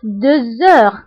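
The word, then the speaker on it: deux heures: قلت 2 heures، هنا نطقت لا لتر زد مع أنها ما كايناش. pourquoi؟ باسكو عندي اش، باسكو عندي لا لتر اكس كتبعها اش، دونك كندير لا ليزون وكنقرا 2 heures. 2 heures. داكوغ. كنطق لا لتر زد مع أنها ما مكتوباش باسكو درنا لا ليزون.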